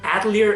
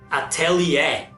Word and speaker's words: Atelier: which I recently learned Adler is not pronounced Adler or Taylor they're pronounced Atelier it's a French word so just like I